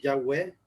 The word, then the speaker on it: Yahweh: Realmente el tetragramatón son 4 letras y según los estudiosos la forma más ideal de pronunciarlo es Yahvé en español y Yahweh en inglés, si no me recuerdo